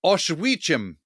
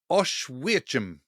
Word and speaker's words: Oświęcim: It's called Oświęcim. I had to get the pronunciation of that from Guy Walters, who's been there many times and knows exactly how to pronounce it. Yeah. But it's spelt Oswiecim. Oświęcim.